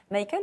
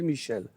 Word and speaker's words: Michael: Alors, c'est Michael parce que ça s'écrit M-I-C-H-A-E-L. Mais effectivement, ma mère n'arrivait pas à dire Michael, donc elle m'appelait Michel. Parce qu'en France, l'équivalent, c'est Michel.